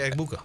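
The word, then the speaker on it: Egbuka: Mega Eggbuka. Eggbuka. Eggbuka. Bacon and eggs. Egg.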